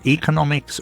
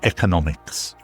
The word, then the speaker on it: economics: And you'll hear me pronounce this as economics or economics. Both are perfectly acceptable.